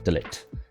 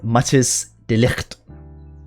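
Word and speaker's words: de Ligt: He was amazing in game which is Delect now or Matis Delect. That's how you actually say his name.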